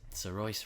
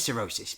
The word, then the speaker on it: Saoirse: So that's how you pronounce it. Saoirse Ryan. I was guess- I always thought- wondering. I thought it was cirrhosis, but I guess that's it.